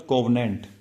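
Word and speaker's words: covenant: COV को अगर हम प्रोनाउंस करें क्या बोलेंगे? कोवी। कोवी बोलेंगे। कोवी मतलब कैसा साउंड कर रहा है? कवि जैसा।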